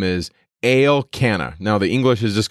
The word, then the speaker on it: Elkanah: to read elkanah so you can just say elkanah but it's pronounced at least the way the mazzarets put it out there el canna and he's there in mount ephraim and remember